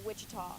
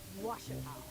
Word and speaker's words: Ouachita: Back in Texas, everybody pronounces it Wichita, but really, it's Ouachita. Washita.